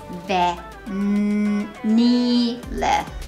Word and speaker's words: vanilla: ベニラ、ベニラですね。